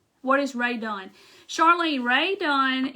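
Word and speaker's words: Rae Dunn: is ray done charlene ray dunn is this is not rae dawn but she makes like white pottery and it has this kind of writing on it is her name is spelled r-a-e d-u-n-n if you type that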